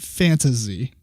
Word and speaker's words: Fantahzee: the next game is fantasi is it fantasy or fantasi I think that AEG pronounces it fantasy fantasy okay but it